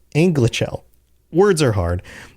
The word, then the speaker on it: Anglachel: So Beleg chooses a blade called Anglichel. Anglichel? Anglichel. words are hard.